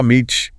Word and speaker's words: homage: And the video mentioned something about how people say homage. Oh, right. Pronunciation. Some Americans might drop the H sound. Oh, Meech. British English speakers usually keep it h oh my, but you know, either way works, people understand.